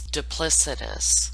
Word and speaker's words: duplicitous: I mispronounce it. It's duplicitous. I love adding new words to my vocabulary.